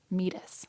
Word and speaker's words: meatus: have just ended the same place that our meatus ends. What's the word? Meatus. Meatus. Or meatus, depending on how you pronounce it.